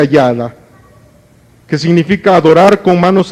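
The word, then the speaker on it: יָדָה: Mira, hermano, la alabanza viene entonces de una palabra hebrea que se pronuncia yada, que significa adorar con manos extendidas o batir las manos.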